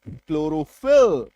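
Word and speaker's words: chlorophyll: Chloroform C एच एल क्लोरोप्लास्ट सी एच एल क्लोरोफिल सी एच एल ओ आर एल क्लोरल है ना तो बड़े से बड़ा शब्द बड़े से बड़ा स्पेलिंग है ना?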